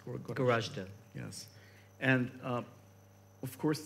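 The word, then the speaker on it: Goražde: Is it pronounced Gorashte? Gorashte.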